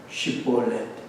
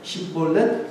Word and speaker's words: 쉽볼렛: 강개울이라고 하는 단어가 쉿볼렛인데 이 사람들은 쉿볼렛이라고 하면 어떻게 발음합니까? 십볼렛이라고 합니다. 별 차이가 없는 것 같아요. 십볼렛, 쉿볼렛. 쌀 대신에 살이라고 발음하는 것과 같은 것이죠.